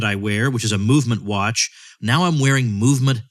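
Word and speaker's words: MVMT: you through the summer MVM t pronounced movement has hundreds of premium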